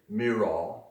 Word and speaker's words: Murat: Think of that cat when you say Murat, and you'll get it right.